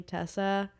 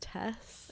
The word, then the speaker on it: Tess: When you're a Tess, sometimes people think your name is Tessa. That's crazy. It's really upsetting. I'm like, there's no You should say my name's It's not like Hannah. You should say my name's Tess, no That really confused. There's one girl I know who always calls me Tessa.